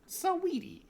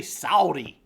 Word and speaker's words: Saweetie: Saweetie. Yeah, Saweetie. I don't know why I want to say Saudi.